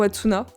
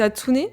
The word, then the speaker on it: Hatsune: C'est Atsune ou Atsuna ? Qu la différence ? La prononciation c'est Atsuné.